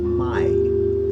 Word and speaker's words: mai: My, M-A-I. A-I is always pronounced I. Like your eye, you know, that you see out of.